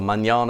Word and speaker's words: Mañana: friend of mine some Manama surfboards or mañana surfboards you pronounce it properly he's the guy who